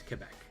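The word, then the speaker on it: Québec: The French pronunciation is Quebec.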